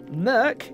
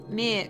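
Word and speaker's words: Meerk: Is it Merc or Mirk? I thought Bryn keeps saying Mirk. I'm pronouncing it incorrectly. I mean, it's in Draconic and it's a transliteration. Okay. So we're doing our best. I get the impression it's more Merc, isn't it? Yeah, Rather it's than like a Merc. cobbled-ish, draconic-ish sound. I've spelt it M-E-E-R-K.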